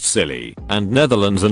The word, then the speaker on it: Scilly: noise was gnarly the isle of scilly pronounced silly and netherlands are not